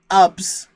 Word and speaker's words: Ubs: Their nickname is sort of pronounced like clubs, but without the C and the L. Ubs.